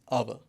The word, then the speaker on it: hour: अब यहाँ पे देख लीजिए HOUR, यू नो, जब आप इसको प्रोनाउंस करते हैं, इसको हम एज हावर प्रोनाउंस नहीं करते, we usually pronounce it एज आवर। तो पहला जो H है इट रिमेन्स साइलेंट।